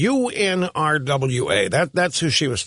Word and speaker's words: UNRWA: I the the the group that she was talking about, she was pronouncing it UNRA. It's the United Nations Relief and Works Agency, UNRWA.